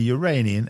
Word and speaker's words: Uranian: All icy bodies around the same size as the Uranian, and yes, that's how you say it, moons.